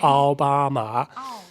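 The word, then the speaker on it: 奥巴马: I say Obama. It's Aobama.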